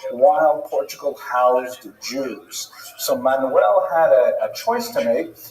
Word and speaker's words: Manuel: But luckily for today, the only Portuguese king we're going to talk about is Manuel, which is pronounced Frank? No, Manuel.